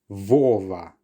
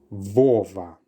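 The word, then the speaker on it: Вова: This is not a B. This is the Russian letter V. And that therefore means that you should pronounce this word as Vova. Vova.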